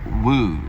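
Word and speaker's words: Whew: It went for a whole year and 1 month, and it was called Woo, W-H-E-W. I think that's how you pronounce it, Woo.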